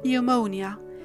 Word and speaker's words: pneumonia: The same thing happens with the nasal N in pneumonia, and the same thing happens with the stop sound T in receipt.